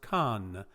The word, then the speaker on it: can: case of conus the stem is c-a-n pronounced khan okay and this will